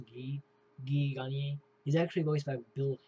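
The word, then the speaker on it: Guy Gagné: noticed how Guy, it's spelled Guy, but it's pronounced Guy Gagne.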